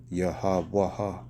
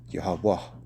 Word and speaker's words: Yahweh: That's how you say out, pronounce every letter, Yahweh. But the last letter of the Hebrew word, it connects to the second to last letter. So it's Yahweh. It makes you finish with the H sound.